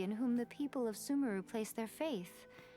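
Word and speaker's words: Sumeru: Yeah, Sumemeru is the canon way. But when it first came out, the community was split.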